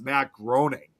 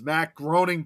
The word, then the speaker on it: Matt Groening: It's kind of like similar with Matt Groening, of The Simpsons, and a lot of people always thought his last name was supposed to be pronounced Matt Groening.